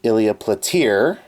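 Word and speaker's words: Ilya Platiere: Then we have Ilya Platir. And yes, that's actually how you pronounce that.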